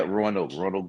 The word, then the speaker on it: Roanoke: Roanoke? Yeah. Roanoke, Virginia.